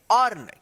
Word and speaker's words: earn: फियर जैसे यहां पे ई ए आर एन इसको क्या पढ़ेंगे अर्न क्या पढ़ेंगे अर्न अर्न यानी जब भी ई ए के बाद आर रहता है तो ई ए का अ उच्चारण हो रहा है यहां पे ठीक